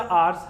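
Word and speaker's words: our: जैसे माय या माइन मेरा, आर या आर्स हमारा। देखो, आर को आवर नहीं बोलते हैं, इसको इस टाइप से प्रोनाउंस करेंगे आर कहकर, ठीक है।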